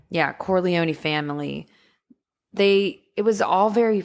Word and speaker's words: Corleone: Corleone? Yeah, Corleone family.